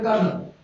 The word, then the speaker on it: colonel: Like a major, there is a colonel. Colonel! Yes, right, colonel. And they speak pronounced colonel, journal, colonel.